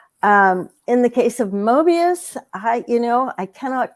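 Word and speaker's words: Moebius: you're I mean certainly translating Mobius or muebius as the French pronounce it um it is you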